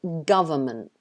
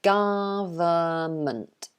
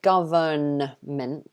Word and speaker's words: government: looking for the n the n is silent so you don't pronounce the n um instead we pronounce this word government so it's a government three syllables again um but we don't say government so we don't say